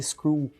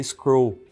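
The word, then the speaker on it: Skrull: existe um parente aqui a gente fala School aqui no Brasil mas a pronúncia em inglês é scroll né quando começaram a falar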